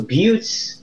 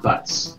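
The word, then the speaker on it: Butz: it scary alright so buttes now is a mental breakdown it falls on the floor yeah okay this is how you pronounce his name its buttes not butts yeah like beards it's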